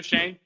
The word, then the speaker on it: Schoen: Joe Shane. Joe Shane. Shane. It's. I think it's pronounced Shane, but it's spelled Schoen or something.